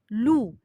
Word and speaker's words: loup: Par exemple, loup, c'est un mot qui se termine par la lettre P. Elle est muette. Je ne la prononce pas.